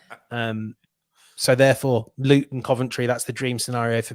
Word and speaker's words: Coventry: for our American listeners it is pronounced Coventry I have I cannot